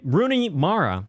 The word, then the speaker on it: Rooney Mara: This one directed by Sarah Polley, starring Rooney Mara, that's how you say her name, Claire Foy, Jessie Buckley, a little bit of Frances McDormand in there too.